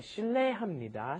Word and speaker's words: 실례합니다: Anyway, and notice the pronunciation here. It looks like it should be 실례, which is almost impossible to pronounce, isn't it? Yeah. How do you say 실례? Because the vowel is ye. But what happens is, of course, it just ends up being pronounced 실례, 실례, 실례합니다, 실례입니다.